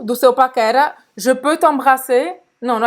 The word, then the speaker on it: t'embrasser: R de novo a gente não vai pronunciar.